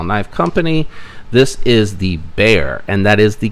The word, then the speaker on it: Bexar: This is the Bear, and that is the correct pronunciation of the product. If you are native of Texas, you know the X is silent, and you say bear a little fancy and say bear.